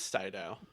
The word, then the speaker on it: Sydow: a star wars sydow is it pronounced saidao it is cyto he was in a